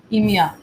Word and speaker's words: EMEA: office hours apac and e-m-e-a but joyce my manager says i can pronounce it as emia i don't know yes